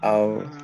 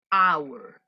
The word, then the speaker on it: hour: An hour. An hour. Es igual que en español, la hora del tiempo. Usted no pronuncia la H. ¿Por qué? Porque la H en este caso es muda.